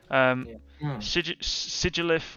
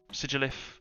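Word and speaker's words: Sigilyph: Sigilif or Sigilf. Sigilif is how you say it.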